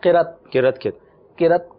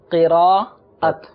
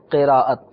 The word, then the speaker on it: قراءت: جو ہے نا وہ اس کا تلفظ غلط کرتے ہیں. قرت کی قاری صاحب نے قرت کی، صحیح. قرت نہیں ہے، قراءت جیسے نا تلاوت، ایسے ہی قراءت.